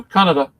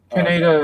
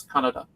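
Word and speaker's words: Kaneda: mean Canada I mean Canada no Canada is the proper way of pronouncing it Canada is more of an is a more of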